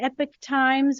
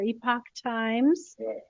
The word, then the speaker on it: Epoch Times: newspaper I don't know how to say it Epic Times or Epoch times thank you um and this is in relation